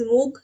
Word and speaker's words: Moog: And here the first industry is I'll pronounce it as Moog, that is MOOG.